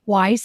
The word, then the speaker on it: Weiss: find that through linking up with you Joyce Weiss and it's spelled w-e-i-s-s am I pronouncing that the way